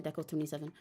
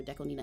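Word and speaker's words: DECO*27: was just singing by Deco27, I don't know why I say I I alternate constantly between saying Deco 27 or Deco Nina. It's pronounced Nina, but um anyway, for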